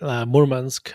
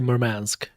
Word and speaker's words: Murmansk: I think Russians say Murmansk, Americans say Murmansk, whatever works.